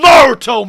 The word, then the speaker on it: Naruto: first syllable all right pronounce the first syllable all right that's all you got to do it's not the second it's the first the same pokemon this ain't pokemon gotta catch a pitch naruto man it's japanese man